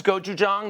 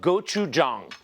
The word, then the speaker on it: gochujang: This is gochujang.